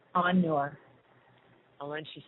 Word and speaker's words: Anur: So I guess the Anur. Excuse me, it's A-N, second word, N-U-R, Anur.